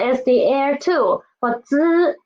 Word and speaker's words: 滋: For 滋, the air is soft.